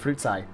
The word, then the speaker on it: Fruitsy: wanted to mention, by the way, dude, it's not pronounced fruitsy, it's pronounced fruitsai.